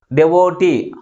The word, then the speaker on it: devotee: That is, last syllable is pronounced with a greater force comparing with other syllables.